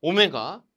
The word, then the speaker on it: 오메가: 폐로 시간에 가장 많이 쓰는 단위 입니다 그래서 오메가 라고 읽고 있습니다 좀 잘 기억하고 계셔야 할 그리스